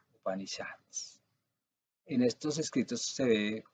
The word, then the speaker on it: Upanishads: En Upanishads, se pronuncia así, Upanishads.